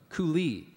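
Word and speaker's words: coulis: word has a near homonym the word is koui or koui I'm sorry koui it's a noun it's a thick sauce made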